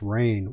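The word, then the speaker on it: Rahne: I know one of them was Ricky, I believe the last name is pronounced Rain.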